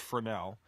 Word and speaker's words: Fresnel: The Fresnel zone, it's French, so it looks like that. It's pronounced Fresnel.